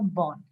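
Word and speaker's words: borne: a mosquito born disease the E is silent there so you would find two sets of words the first one and the second one both are pronounced as Bond okay so b o r NE is also Bond so what do you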